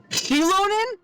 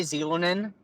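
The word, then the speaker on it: Xilonen: it's pronounced right and it's pronounced chilonin sheilon chilonin chilonin yeah that's how it's pronounced I'm still probably GNA say zonin uh well now that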